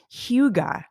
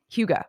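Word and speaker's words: hygge: i wanted to mention i pronounced it wrong uh the last episode it's hugo not i think i said hugo that's the danish like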